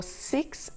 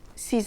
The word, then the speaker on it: six: Il y en a 6, there are 6 of them, ou il y en a 10, there are 10 of them. When it's followed by a vowel, the final X is pronounced Z. 6 amis, 6 friends.